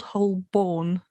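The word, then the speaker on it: Holborn: is old whole bone I can never say it properly old ho born not burn um and I have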